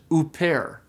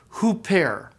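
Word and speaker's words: ὥρα: word so for example if this word didn't have a breathing mark it would be pronounced oare oare but this word does have a rough breathing and so it's pronounced hoare hoare you got that initial H sound into it okay so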